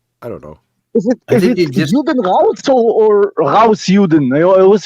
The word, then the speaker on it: Juden raus: It's not Das Juden. Das is singular. It would be die Juden, and as for the question that Manny Karen asked, it's Juden raus.